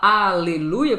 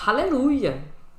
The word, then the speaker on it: aleluia: A gente fala aleluia porque o nosso H é mudo, mas o americano fala aleluia, com H na pronúncia deles aqui.